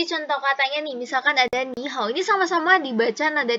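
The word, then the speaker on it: 你好: Nah, bacanya tuh kayak gini, ni hao. Nah, hao-nya ini, walaupun dia nada 3, tapi nggak perlu dibaca kayak gini. Hao, nggak perlu. Tetap nada 3, tapi dibaca setengah aja.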